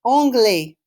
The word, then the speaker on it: anglais: To say the word English, répétez, anglais.